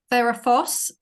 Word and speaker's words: Ferrphos: I mean, Ferrofos, Ferrofos, it's spelt Ferrphos.